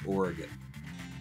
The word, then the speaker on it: Oregon: But because it's that, I'm pretty sure that the right way to say it is Oregon.